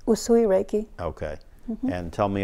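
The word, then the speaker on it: Usui: healing technique what suya Reiki how do you pronounce it well sooie sooie sooie Reiki okay and tell me a little bit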